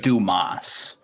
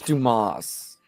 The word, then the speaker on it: Dumas: That's actually pronounced Dumas. Yeah. Who? It's Dumas.